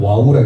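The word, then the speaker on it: ו: 이것도 바브, 비읍 소리도 나기도 하고 때때로는 이응 소리. 예전에는 와우라고 했어요. 와우. 지금은 바브 이렇게 읽습니다.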